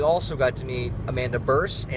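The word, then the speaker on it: Bearse: Stephen Jeffries was here again this time, but we also got to meet Amanda Burse, and it's not Bierce. She corrected us. Yeah. And pronounced like purse.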